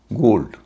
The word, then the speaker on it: gold: GOLD, गोल्ड, सोना, यहाँ ओ बीच में है, बाद में दो कॉन्सोनेंट हैं, पहले एक कॉन्सोनेंट है।